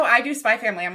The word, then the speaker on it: Spy x Family: people's names, but for Spy X Family, it's Spy Family. The X isn't pronounced at all. That's how I do Spy Family.